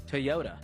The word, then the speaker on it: Toyota: I found out from listeners that I was saying it correctly. It is Toyota, based on the actual founder's name.